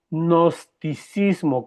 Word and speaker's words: gnosticismo: Se llama el nosticismo con G de gato sin a. G, se escribe G y luego seguido gnosticismo.